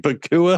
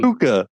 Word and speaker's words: Puka: Pukua. Oh, I love him. Puka.